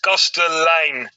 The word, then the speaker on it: Kastelein: Small practice is okay, Domen, but it's obviously very Dutch, so it's Kastelein.